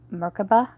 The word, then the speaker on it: Merkabah: say Makabe or Mirko Merkabah there's no R it's in the end I always accidentally put the R so that's my ignorant